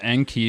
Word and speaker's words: Enki: flame emojis salute Anke I hope you pronounced it as n key but yes that's how I learned to pronounce it through zecharia sitchin and all that I'm sure you know and I'm talking about if not sorry and so it's not as n cob yeah I definitely think